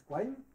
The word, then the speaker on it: Quine: Il y a une thèse de Duhem, et alors j'aurais dit qui, mais il paraît qu'on prononce Quine, merci.